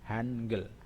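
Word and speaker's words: 한글: Han ini sudah punya bajim. Ini kan suku kata ini, suku kata Han. Ini adalah bajimnya adalah nien. Han ada bajim. Terus gel. Gel juga niennya, realnya juga bajim. Jika yang kemarin kita pelajari, jika real itu di akhir kata, makanya jadinya L. Ya.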